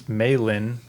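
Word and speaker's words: Mei Lee: By the way, pronunciation-wise, it's Maylin, but does she go by Mai or is it May? I think it's May May. Like they call her May.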